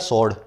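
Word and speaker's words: sword: मतलब होता है तलवार, लेकिन इसको बोला जाता है सॉर्ड। ये डब्ल्यू जो है बीच में साइलेंट होता है, ठीक है, सॉर्ड बोलते हैं, डब्ल्यू को बीच में बोला नहीं जाता।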